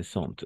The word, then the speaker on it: sentent: Se sentent. ENT à la fin, on ne le prononce jamais.